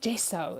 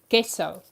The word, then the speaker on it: gesso: and she's like, "Mom, it's called gesso." And I'm like, "No, it's gesso. Maybe it's just because I grew up in South Africa and the G is a hard G sound."